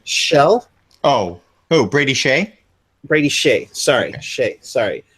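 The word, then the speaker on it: Skjei: you're gonna have to correct me on the pronunciation you got it right shell oh who Brady Shay Brady Shay sorry Shay sorry from you got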